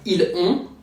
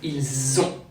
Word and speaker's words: ils ont: French put a Z sound after il to do what we call a liaison. It's not ils ont, but ils ont.